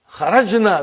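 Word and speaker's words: خرج: Kharajna. Where is the verb? Say it properly. Kharaj. With sukun. You won't say with? You will say kharaj.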